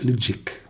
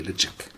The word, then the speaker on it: Ledaig: The natives call it like Ledaig. I'm not able to pronounce it the right way, but it's called that way, Ledaig.